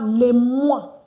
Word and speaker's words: les mois: And of course, the S, not pronounced. Don't pronounce the S.